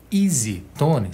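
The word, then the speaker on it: EZ Tone: que quer dizer isso as letras e Z em inglês se pronuncia Easy isso é exatamente a pronúncia da palavra fácil em inglês easy fácil Tom timbre então e zetone ou Easy Tone significa timbre fácil como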